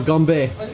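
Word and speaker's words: 건배: cheers Cheers man and how you say it locally is Gombe Gombe our first of many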